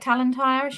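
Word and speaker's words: Talantire: um the Jan talenti is that I'm saying it right talenti yes that's right yeah Jan talenti um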